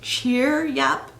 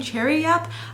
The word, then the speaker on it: Cheeryep: came to realize that I was saying the name wrong. It is Cheer Yap. Um, I was, for some reason was saying Cherry Yep. I don't know why. I think it's because I was like distracted with these or like the red and my hair. I don't know what was going on, but it's cheer. Yep.